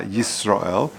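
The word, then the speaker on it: יִשְׂרָאֵל: You've got to pronounce the Yud. Shema Yisrael. Shalot Tibolev Shalot Tira Aleph. You shouldn't just swallow it up and then it just sort of flows into one word and you've lost the Aleph.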